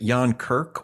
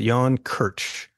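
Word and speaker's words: Jan Krč: you share about first is it Yan Kirk or Jan Kirk he pronounces it Yan Kirch it's spelled KRC he's he's Czech by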